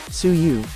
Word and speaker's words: Suyu: suyu is still here suyu pronounced suu is the afterlife the